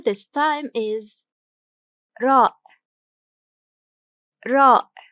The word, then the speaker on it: راء: Our letter this time is ra. Ra. It is the equivalent of R, but its sound is clear of trilling and curling.